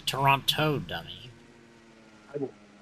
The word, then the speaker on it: Toronto: It's Toronto, dummy.